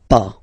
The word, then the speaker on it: pas: Okay, so first ne, then the verb, and after that pas. Okay, we write it PAS, okay, but as usual final S is not pronounced, so it's pas.